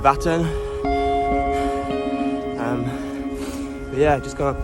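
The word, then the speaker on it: Vättern: I'm currently riding alongside a big body of water called, I think you pronounce it Vattern.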